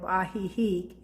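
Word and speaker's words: Ajijic: um just my partner and me and we stayed in the town of ahihi it's spelled a-j-i-j-i-c and it's the real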